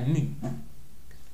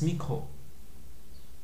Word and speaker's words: micro: micro microscopique microscope donc le symbole c'est un MU alphabet grec mais ça se prononce micro c'est pas mu par exemple si j'ai